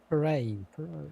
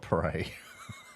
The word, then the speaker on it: Poirot: That's not how you say it. Poirot. It's very Parade. French. It's not parade. It's French.